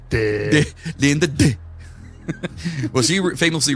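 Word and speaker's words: Dégh: The GH is silent, it's just Dig.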